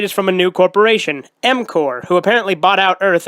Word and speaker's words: M-Corp: m-corp, the P is silent, and Skipper.